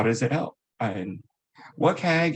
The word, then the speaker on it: WCAG: how does it help what keg is the pronunciation and for the web